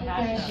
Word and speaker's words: Akasha: How about the pronunciation, Ms. Akasha? Akasha, yes.